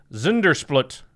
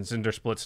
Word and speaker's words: Zndrsplt: So it's Zundersplut. There are no vowels in Zundersplut's name. So it's Zndrsplt.